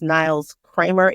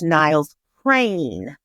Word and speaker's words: Niles Crane: And last week I did say his name was Niles Kramer. It is not. It's Niles Crane.